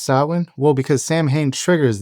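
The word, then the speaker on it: Samhain: And I'm going to call it Sam Hayne. Why? Even though it's pronounced sin.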